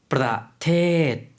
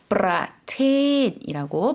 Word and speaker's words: ประเทศ: ประเทศ 단어가 조금 길어졌죠. 프라테이라고 발음을 해주시면 되겠습니다.